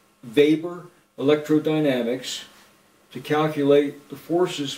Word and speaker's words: Weber: MERS use of what's called Weber that's the german pronunciation of that man's name vapor electrodynamics to calculate the